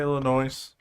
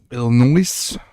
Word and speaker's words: Illinois: potato potato that's what I've heard potato potato ill noise how long we actually been on tonight noise